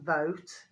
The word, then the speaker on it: Vote: The name is Vote, as in boat, but it's spelt with a V, not a B.